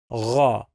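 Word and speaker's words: غ: The sound of this letter now with the dot is gha. It sounds like letter R in French. Gha. It sounds like gargling.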